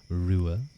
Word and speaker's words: Ruadh: Well, my name is pronounced Rua. Rua.